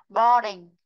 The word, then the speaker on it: boring: có dấu huyền, nên cái chữ này nó không có trọng âm ở đuôi inh, mà nó sẽ có trọng âm vào chữ bò.